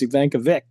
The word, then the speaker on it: Ivankovic: I think he's the only producer, Will Ivankovic, which I've been pronouncing it incorrectly all these years. Ivankovic. I think being from the Buffalo area, you have a lot of Polish names, and that's how you pronounce the CH at the end.